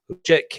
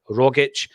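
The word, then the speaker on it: Rogić: Why do some folk pronounce it Rogic and others correctly pronounce it Rogic?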